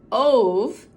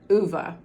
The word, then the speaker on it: Ove: that it is pronounced uva and that's probably because this man the author frederick backman is from sweden and i believe that is a swedish name uva a man called